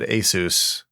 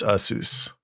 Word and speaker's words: ASUS: name every week yeah cuz we all said Asus and it's usus usus God even as like